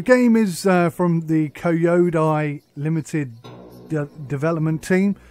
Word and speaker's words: Elea: L. That's how you pronounce it. L. Not Elea. L.